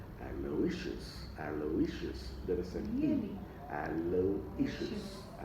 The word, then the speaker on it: Aloysius: The stress is on issues. Aloysius.